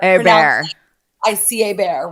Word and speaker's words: Hebert: Bobby Hebert. Hebert.